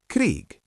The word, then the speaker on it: Krieg: Krieg, meaning war, has a G at the end, but we pronounce it like K. And Weg, meaning path, also ends with K while pronouncing. Try saying these. Krieg.